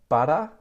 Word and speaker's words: butter: Both of those, like difficulty and better before, have the T flap. So I would say sweater and butter.